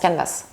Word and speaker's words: Canvas: Canvas, pardon, gratuit. Il est gratuit. Mais le S en français, on ne le prononce pas. Oui, il faut le prononcer là.